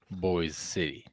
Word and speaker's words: Boise City: Boy City.